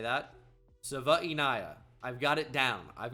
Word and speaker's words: Savaiinaea: Jonah Savaiinaea is how you say that. Savaiinaea.